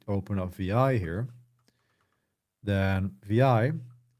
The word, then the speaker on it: vi: So if we open up VI here, then VI, pronounced as two letters, VI, is a screen-oriented